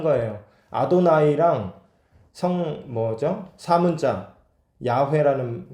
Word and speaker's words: 야훼: 근데 신성 사문자는 어떻게 발음하는지를 몰라요. 왜냐면 아무도 말을 안 하니까. 그래서 야훼의 야하면은 YHWH 이게 야훼의 자음이에요. 모음이 뭔지를 몰라요.